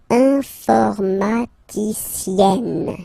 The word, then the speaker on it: informaticienne: And you get the sound informaticienne. Sienne. Remember, E and then double N, or then it could be double L or double consonant here. You open your E, so it's E. Informaticienne. Okay, so I tend to